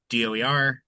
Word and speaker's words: DOER: Um, and then I'll I'll just say we uh called the agency DOE. We like to spell it out even though we recognize that doer is a word and it's kind of a nice word and we're flattered when people call us that.